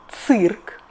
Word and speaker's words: цирк: So after this consonants we read И always like [ы]. For example, цирк .